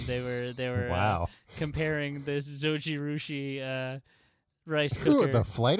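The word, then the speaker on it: Zojirushi: I was reading an article, I believe it's the Takeout, that put it against Zoji Rushi. That's the correct pronunciation.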